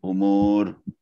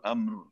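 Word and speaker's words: الأمر: Walillahi ghaibus samawati wal ard wa ilahi yurja'ul umur. Kulluhu fa'buduhu wa tawakkal alaih. Ya. Tapi kayaknya tadi bacanya agak kelebihan. Kelebihan ya? Walillahi ghaibus samawati wal ard wa ilahi yurja'ul amr.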